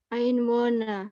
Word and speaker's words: Einwohner: Ya, bacanya Einwohner. Einwohner. Ya, jadi huruf R kalau di belakang selalu A. Einwohner. Ya. Oke. Oke, tolong diulangi, Deutschland. Deutschland hat 82 4 Millionen Einwohner. Ya, Einwohner. H-nya hilang, Einwohner.